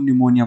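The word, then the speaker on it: pneumonia: ही गलत है क्योंकि हमेशा निमोनिया इस तरह पीछे स्टार्ट होती है और यहां पर साइलेंट रहस्य को निमोनिया पड़ते हैं अब इसके बाद हमें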